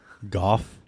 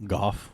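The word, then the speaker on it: Gough: Goff. GH is pronounced F? Goff. Sometimes it is.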